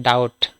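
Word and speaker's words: doubt: ঠিক না নেক্সট আছে দেখো উপরে ডাউট ডি ও ইউ বিটি বি সাইলেন্ট এখানে ডাউট ডাউট মানে সন্দেহ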